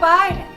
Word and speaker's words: Biden: this current administration joe biden because biden rhymes with friday seriously vote for joe